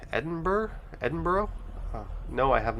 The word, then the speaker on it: Edinburgh: learned the other day the locals say embra edinburgh edinburgh no i have